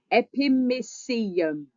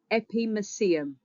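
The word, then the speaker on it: epimysium: Epimeum. Epime. It rhymes with coliseum. Epimeum. Coliseum.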